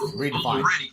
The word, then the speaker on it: REDEFIND: Dustin, you can go on Redefined, and the way Redefined is spelled, it's REDEFIND. There's no E. There's no E in the middle of the N and the D. It's just Redefined.